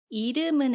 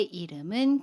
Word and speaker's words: 이름은: 강의 를 참고해주세요 받음 볼게요 이름은 에서 름 은 님은 이라고 발음의 요 음은 같이 미음 뒤에 우미 오면 니 음이 이응 자리로 가서 발음 해요 그래서 름은 이라고 발음합니다 연애 미 에요 름은